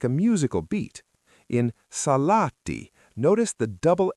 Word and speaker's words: Salaatti: The word is Salaatti. Sarah, try to say Salaatti. Remember: Stress the first syllable, and every 'A' is an .